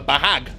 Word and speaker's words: bahag: So in Tagalog, this is called the bahag, gotta say it like that.